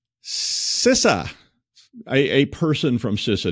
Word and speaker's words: CISA: day so what's not the like all right sisa a a person from sisa told me to say it that way not Paul it was an actual person at sisa I always said cisa but you know whatever who knows how to